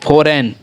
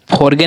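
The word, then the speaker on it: foreign: ठीक है, और आगे है फोर, देखिए फोर और EIGN, फॉरेन, ये हमारा फॉरगेन ना होकर क्या पढ़ाता है, फॉरेन, क्योंकि जी हमेशा साइलेंट रहता है तो फॉरगेन हो जाता है।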